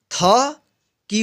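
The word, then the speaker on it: thick: जैसे में टी एच आई सी के, इसको पढ़ेंगे थिक।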